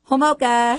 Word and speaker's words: Homolka: It's Hoka. Hoka. There you go. There it is. Nice. Just like a mocha with a little hope.